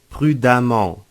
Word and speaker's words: prudemment: ent nous ajoutons e double m ent prudent prudemment noté que le 2 terminaison se prononce de la même manière brillamment et prudemment